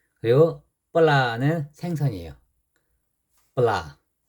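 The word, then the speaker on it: ปลา: 그 다음에 종자음으로 올 때는 비읍 발음. 그리고 뻘라는 생선이에요.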